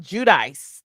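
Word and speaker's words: Giudice: Now, you said it's pronounced Judice.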